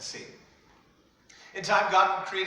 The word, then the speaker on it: Satan: We pronounce his name in English as Satan.